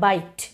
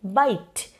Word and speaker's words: bite: is irrelevant for example in the word byte p-i-t-e you don't pronounce it as by T if you had pronounced it as by T then two syllables would have been there but since you are saying bite it means that yes that e is affecting the pronunciation but your only pronouncing